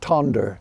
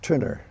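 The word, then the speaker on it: Tønder: slash n d r you it looks like tonder uh but they pronounce it trer oh Turner okay Turner now some of that you sung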